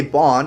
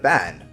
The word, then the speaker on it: Ban: And why do you say Bon instead of Ban? I think it's spelt ban, but pronounced bon, from my understanding.